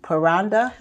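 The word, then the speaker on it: parranda: just before I get to Brenda let me pronounce that word for me paranda paranda paranda paranda is when a group of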